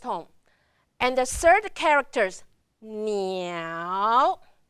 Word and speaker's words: 鸟: And the third characters, 鸟, 鸟. Remember the third one, very dramatic, going down and up.